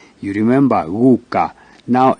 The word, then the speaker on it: guka: G, guka, grandfather. Gu. So it's a soft G.